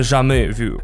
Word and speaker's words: jamais vu: У дежавю есть антоним, это jamais vu, или если точно следовать французским правилам ударения, то, наверное, jamais vu.